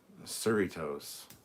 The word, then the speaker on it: Cerritos: uh but since then i've been told it's basically doritos or the the doritos um cerritos whatever cerritos that's what's